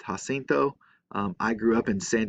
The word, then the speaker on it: San Jacinto: pronounce it different ways um it should be pronounced ha cinto i grew up in san jacinto county where we always pronounced it san jacinto instead of jacinto as it would be in